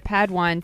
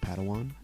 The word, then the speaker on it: Padawan: Master Yoda assigned a Padawan to this bold Jedi. I believe it's pronounced Padawan. Oh, Padawan, excuse me.